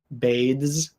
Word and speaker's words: bathes: If you're speaking clearly, the S in bathes is going to sound more like a Z, bathes, bathes.